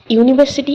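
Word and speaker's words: university: তো কনসোনেন্ট লেটারের আগে কি বসে এ বসে ইউনিভার্সিটি ইউ দিয়ে শুরু হলেও ভাওয়েল দিয়ে শুরু হলেও এর উচ্চারণ ওয়াই এর মত।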